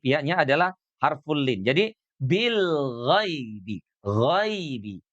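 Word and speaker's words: بالغيب: Jadi bil ghaibi, ghaibi. Dia dibacanya lembut, ghai. Ghai. Ya mati itu bunyinya sama dengan i ya. Jadinya ghaibi. Bil ghaibi, tidak ghai. Tidak ghai, ya, tapi ghai.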